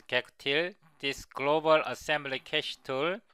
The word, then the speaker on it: gacutil: Also, we will use gacutil or gacutil, I will pronounce it as gacutil, this global assembly cache tool.